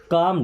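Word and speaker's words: calm: कम down. कम और काम। कितना डिफरेंस है? यहां पे जो एल लगा है ना एल साइलेंट है। कॉलम नहीं पढ़ते। क्या पढ़ते हैं? काम।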